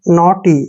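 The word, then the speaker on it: naughty: जब भी टी से पहले यू जी एच आएगा इसका प्रोनाउंसिएशन हमने करना ही नहीं होता, यानी हमने पढ़ना ही नहीं है। एन ए को ना पढ़ा, टी को टे पढ़ा, और वाई को ई की मात्रा, नॉटी ऐसे पढ़ना है इसको, नॉटी, नगटी नहीं पढ़ना है, नॉटी।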